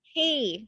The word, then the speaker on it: Quay: I know Quay, I think it's called, that the sunglass brand Oh, is. key. Yes, Yeah, key.